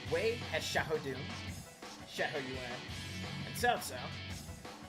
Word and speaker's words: Cao Cao: Wei has Xiahou Yuan, and Cao Cao. Sorry, Cao Cao, as it's pronounced in the earlier portions of the series.